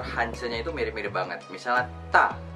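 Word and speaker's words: 大: Misalnya ta itu artinya besar, jadi tulisannya seperti ini.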